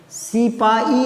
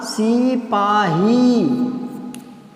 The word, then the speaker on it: सिपाही: नहीं, सिपाही नहीं होता, सिपाही।